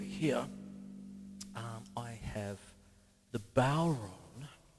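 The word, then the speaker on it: bodhrán: um i have the bow run it's spelt like badran might and what you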